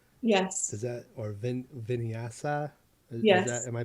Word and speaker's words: vinyasa: words like hatha yes does that or vin vinyasa yeah am i pronouncing that right yes i mean i'm not